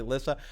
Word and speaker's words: Lysa: I can't make those executive decisions like, oh, I know it's spelled Lysa, but her name's really Lissa.